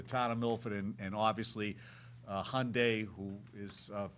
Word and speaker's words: Hyundai: I have to give you credit because we get reprimanded all the time because a lot of people say Hyundai. It's Hyundai. That's the proper pronunciation of it.